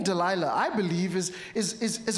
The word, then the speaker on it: Delilah: that they would say Delilah that the way that it was pronounced it it had a similar pronunciation to to to saying of the night or Darkness both these for Samson